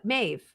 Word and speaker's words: Meve: It's spelled Meve, but it's Maeve.